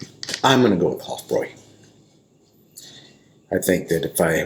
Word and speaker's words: Hofbräu: I've been calling a Hoffbrow and the correct German pronunciation is Hoffroy. The B R A not U is pronounced boy or Roy if I remember correctly. What's up? Huffroy versus Bohemian Riot.